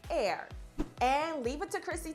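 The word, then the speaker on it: Aire: time Kylie unveiled his name and confirmed it's pronounced air and leave it to Chrissy Teigen to keep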